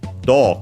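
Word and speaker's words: どう: unaccented, all these ones except for do, of course, which is accented on the first syllable, and so on the do.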